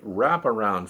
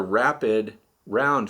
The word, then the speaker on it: Rapid Round: last video with the wraparound feeders. I think I mispronounced this, or I don't come through clearly. They're rapid round feeders.